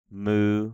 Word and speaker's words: mu: A mu like an M.